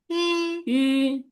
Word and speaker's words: 一: তাবুশি ওয়াদা লাউবান আরেকটা তো দুই নকতালে, দুই নকতালে এটা অনেক চিকন করে বলবো এটা, 一 আমার সাথে বলেন, 一 ই, সেকেন্ড নেবে, ই, কিরকম 一 ই, ই ডাবল ই এর মতো বলে, ডাবল ই আছে না, এটা এতটুকু